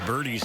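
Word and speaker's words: Burdi: Here's Birdie's next delivery. That one is inside. The right-hander for the White Sox, mentioned former first-round pick. Last name is spelled B-U-R-D-I. Zach Birdie.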